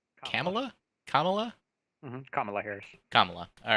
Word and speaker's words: Kamala: Kamala Harris is actually uh, the sponsor, or Jared Nadler, but Kamala Harris, I think, was the sponsor in Senate.